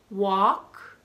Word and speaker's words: walk: going to tell you ten words those most common in which the L is clearly silent then I'm going to